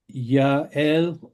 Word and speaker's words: Yael: Yes, another question from Ruth Michelson pointing out that Yael is the proper pronunciation of Ms. first name.